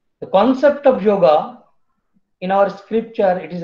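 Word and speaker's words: योग: universal self is called yoga. If we go to a remote village of India, if we ask about yoga, yoga is a Western word, but in India it is pronounced like yog.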